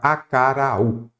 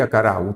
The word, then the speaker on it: acaraú: A sílaba tônica é a última.